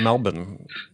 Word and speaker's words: Melbourne: you're joining us from Melbourne I pronounced that correctly right Melbourne Australia that's it yes there's no R in Melbourne despite despite how you see it spelled see uh we pronounce